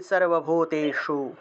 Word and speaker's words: सर्वभूतेषु: या देवी सर्वभूतेषु, शु मूर्धন্য স, জিহ্বা উল্টে স উচ্চারণ করতে হবে, সর্বভূতেষু তুষ্টিরূপেণ সংস্থিতা নমস্তস্যৈ নমস্তস্যৈ নমস্তস্যৈ নমো নমঃ।